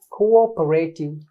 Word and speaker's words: cooperative: Don't say cooperative. Don't say cooperate. Cooperative. You have to break the first part.